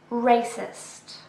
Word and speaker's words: racist: Racist. Racist. This is an adjective with 2 syllables and we stress the first one.